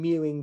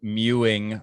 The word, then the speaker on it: mewing: name is mew and mewing rhymes with chewing and i i mean